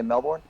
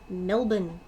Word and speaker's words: Melbourne: I'm going to say Melbourne. I will overlook your American pronunciation of the word. It is not Melbourne. The answer is Adelaide. Adelaide. Adelaide, Adelaide. Say it with me, gentlemen. Melbourne.